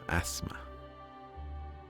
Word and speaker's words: asthma: games i'm not sure the t is silent asthma thanks yes indeed yeah